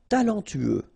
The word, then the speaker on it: talentueux: talentueux. Final X not pronounced. Then you get this U together. Then TU, tueux.